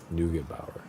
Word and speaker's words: Neugebauer: Neugebauer. There's a G. Got to pronounce it.